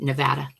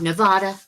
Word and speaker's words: Nevada: Pronounce it Nevada. It's very important. It's not Nevada. It's Nevada.